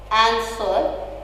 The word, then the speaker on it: answer: The word is answer. Answer. You can see that there is stress on the word an, not on the sir.